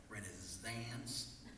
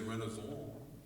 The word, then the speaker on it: Renaissance: If I was going to do like a poem, I could call it Renaissance. That would rhyme with prance and dance, am I right? Then there's Renaissance, which goes together with proms.